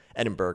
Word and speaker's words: Edinburgh: there and said, hey, FYI, Jared, you're not pronouncing Edinburgh, I think is what I was saying, correctly.